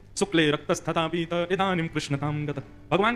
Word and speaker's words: कृष्ण: बंधुओं कई लोग इस नाम को अशुद्ध बोलते हैं, कई लोग कृष्ण बोलते हैं, कई लोग कृष्ण बोलते हैं, कोई कृष्णा बोलता है। भगवान का नाम शुद्ध उच्चारण करो, नाम क्या है? कृष्ण, भगवान, जय श्री कृष्ण।